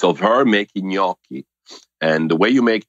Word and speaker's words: gnocchi: So like thumbprints, AKA gnocchi. And the word gnocchi, it's hard to pronounce, you know, because of the GN, it's silent, and it's like how to pronounce it.